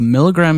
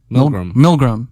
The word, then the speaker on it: Milgram: I think it's called the milligram experiment or the milligram.